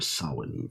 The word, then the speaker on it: Samhain: one will perhaps be more sa flavored which is of course the correct pronunciation hello VR mystery school